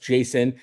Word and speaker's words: JSON: You can pron it's pronounced Jason, but think of it as a recipe book for robots.